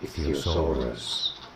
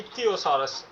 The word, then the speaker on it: Ichthyosaurus: Stress on the fourth syllable ick. Theosaurus. Sorry about the glitch. ఇథియోసారస్. Ichthyosaurus. సో you have to call it ఇథియోసారస్.